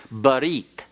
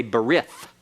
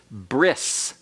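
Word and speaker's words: בְּרִית: are indistinguishable for example the Hebrew word for covenant is but eat alright but eat you'll hear some people say ber if that's an anglicized pronunciation that is incorrect Hebrew alright and the Hebrew modern Hebrew Nate translation is bris bris okay and you'll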